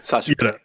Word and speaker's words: Sasuke: Sasuke. It's Sasuke. Sasuke. It's all put together. Sasuke. Yeah, that's the other part of it. It's like the Japanese language, the way it's pronounced, is very very fast.